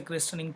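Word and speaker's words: christening: अब ये जो क्रिस्टनिंग का मतलब क्या होता है, और जैसे क्रिस्टनिंग टी साइलेंट है, तो क्रिस्टनिंग का सिंपल मतलब होता है जब बच्चे का नामकरण किया जाता है।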